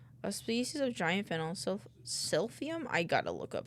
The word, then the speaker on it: silphium: Or a species of giant fennel, silphium.